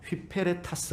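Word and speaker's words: ὑπηρέτης: 일꾼 그리스도의 일꾼 it 일꾼 이라는 말이 휘 페레 타 쓰라는 헬라 합니다 휘 페레 타스 라고 발음합니다 근데 2 배필 페랄타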